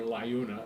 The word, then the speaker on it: LIUNA: He worked for the Laborers International Union, whose initials are LIUNA, Liuna. He worked for the American Federation of State, County, and Municipal Employees, pronounced AFSCME, if I can get that out right.